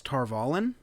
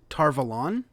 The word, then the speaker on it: Tar Valon: You can actually see, like, you can go to that map and click Tar Valon, and it'll show you. And by the way, Amazon, it's Tar Valon, not Tar Valon.